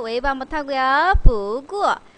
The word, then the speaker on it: 不过: 我也想下班不过 아까 못 읽었던 거 不过 라고 읽네요. 글자는 간단해요. 不 뒤에 자성이니까 부 웨이브 한번 타고요. 부구어 자 부구어 그러나 라는 뜻이에요.